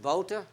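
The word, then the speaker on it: Wouter: C'est mieux d'ailleurs je trouve parce que tu t'appel water ou en hollandais ça s'écrit W O U ça se prononce Woutter en allemand Valter et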